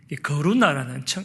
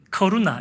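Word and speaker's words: Karuna: 거루나라는 우리 교회 성도가 있어요. 커루나, 이게 발음이 커루나예요. 우리는 거루나 이러는데 영어로 이제 커루나인가 봐요.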